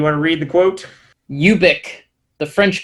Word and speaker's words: Ubik: Radio where he did address the pronunciation of Ubik, and it is, I believe, technically Ubik. And Anthony, you want to read the quote? Ubik.